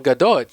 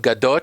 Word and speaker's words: Gadot: pronounce at all, Gal Gadot. Yet she's called Gal. She's called, instead of Gadot, she's called Gadot because obviously if there's a T at the end, it must be French.